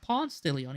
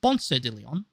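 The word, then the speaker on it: Ponce de León: Now, as you might know, Ponce de Leon, though people pronounce him in America Ponce de Leon, even though it's actually pronounced Ponce de Leon, is well known as the guy who discovered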